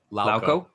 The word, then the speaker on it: Lauko: Lauko.